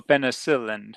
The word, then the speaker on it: penicillin: Yes, I'm allergic to penicillin. Is that how you say it? Good, yes. So penicillin, you put it Penicillin. on the other syllable, yeah.